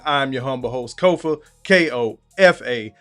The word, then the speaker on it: Kofa: Once again, I'm your humble host, Kofa, K-O-F-A, not coffee, not Kufu, not Kofi, or any variation thereof. Kofa rhymes with sofa, easy to say, easy to spell.